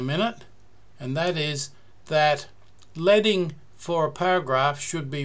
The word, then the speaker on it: leading: for line spacing is leading it rhymes with bedding so named because traditional